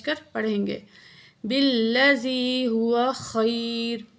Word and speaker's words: خیر: پڑھیں گے۔ بالذی ہوا خیر، خا گلے کے درمیان سے نکالیں گے، خیر، خیر نہیں پڑھیں گے۔ تو اگر خیر آپ